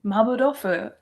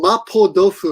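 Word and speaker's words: マーボー豆腐: You said it correctly now. Oh, good. How did she say it in the video? I know she said it wrong. Saying mapo dofu or something. And I'm like, and I asked my wife, I said, in Korea, that would be correct.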